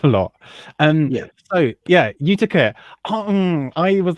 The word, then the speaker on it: Utica: Utica.